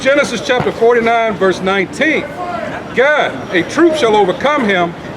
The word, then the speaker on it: Gad: and Gad in the Hebrew is pronounced God.